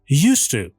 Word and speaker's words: used to: و تلفظ used to چه در جملات منفی و یا مثبت used to هستش. used to. دی توی جملات مثبت به هیچ عنوان تلفظ نمیشه.